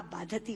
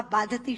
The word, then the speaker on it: बाधते: कि राजा, मुझे ये भार कष्ट नहीं दे रहा जितना आपके मुंह से बोला हुआ बाधती शब्द कष्ट दे रहा है, क्योंकि बाधती शब्द का अशुद्ध उच्चारण आपने किया है। ये शब्द बाधते होना चाहिए।